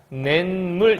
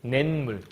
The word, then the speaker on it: 냇물: 플러스 물이란 말이 있어요 그러면 뇌와 물이 결합하면 뇌물이라고 하지 않잖아 어떻게 하지 냇물이라고 발음하죠 이것처럼 이렇게 해서 가운데